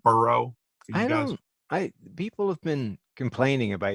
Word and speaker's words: Burrow: They think I'm saying Barrow, like Michael Barrow.